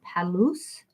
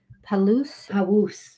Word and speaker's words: Palouse: quote is from wolf neckla necklace who's a palus okay palooz thank you you don't say the l like